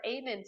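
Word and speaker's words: Amen: what I was looking um at uh Dr ayman's account are you familiar with Dr Ayman no it's it's spelled a m e n he is um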